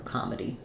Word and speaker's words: comedy: or the I so either Comm D or Comm D really you just need a clear short vowel in that middle syllable there for comedy doesn't really matter if